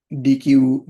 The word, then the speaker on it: deque: you can use a deque data structure. So basically do deque, deque, and it's mainly pronounced as deque. So the main benefit of